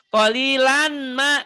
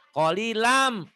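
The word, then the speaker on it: قليلا ما تشكرون: Jadi hmm, bacanya jangan kolilan, kolilan. Jangan kolilan. Kolilam, N-nya masukin ke M.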